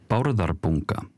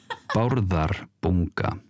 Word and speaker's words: Bárðarbunga: They have a little video that teaches us just how to pronounce it. Bárðarbunga. Bárðarbunga. Bárðarbunga.